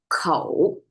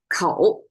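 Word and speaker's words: 口: It's made of a mouth symbol, kou, if you want to pronounce it. This is kou, our mouth symbol.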